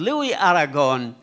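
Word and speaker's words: Louis: ترجم بعض قصائد لوي، أظن الأيس لا تلفظ بالفرنسي، لوي أم لويس نقول دكتور؟ لويس أم لوي؟ لوي. إيه بدون سين. لوي تكتب السين ولا تلفظ. لوي أراغون عن إلزا: عيناك من شدة عمقهما أكاد أنسى فيهما ذاكرتي.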